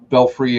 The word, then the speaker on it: Belfry: Here you go, Belfry and Bradarat. I remember those. I couldn't pronounce them when I was a kid, and my mom was like, "It's Belfry.